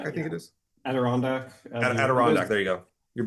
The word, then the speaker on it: Adirondack: their respective Native American culture, specifically from the, I want to make sure I pronounce this correctly too, Adirondack Mountains. Adirondack, I think Yeah. it is. Adirondack.